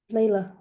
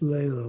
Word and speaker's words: Layla: And did I pronounce, is it Leah? Leela? Layla. Layla. Yes. Layla, like the Derek and the Dominoes song.